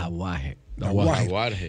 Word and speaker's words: Dauhajre: Dahuar, así es, ¿cómo se pronuncia? Dahuar.